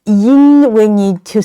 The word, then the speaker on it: 音: Where to pronounce yin sound, we also need to say E first to keep your mouth flat as if you are pronouncing the English letter E, and then use the back part of your tongue to block the mouth and let the air out through your nasal capacity.